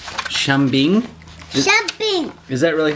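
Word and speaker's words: 生病: Shambing. Shambing? Shambing.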